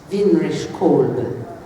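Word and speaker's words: Winrich Kolbe: Vinrich Kolbe. That's how you say it. Vinrich Kolbe, German.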